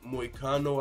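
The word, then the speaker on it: Moicano: other loss was to Renato my condo I believe is how you say his name it was a split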